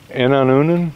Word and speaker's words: Inon onan: Inon onan?